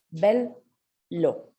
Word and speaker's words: bello: Entonces, ojo con la doble consonante porque va a sonar alargada, ¿sí?